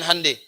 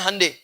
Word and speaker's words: Hyundai: bikin Honda yang bikin hande Hyundai dibacanya hande yaitu dia bikin tuh